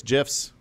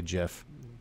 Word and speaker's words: GIF: Twitter supports GIFs. I'll be honest, I just put this in here so I could say GIF.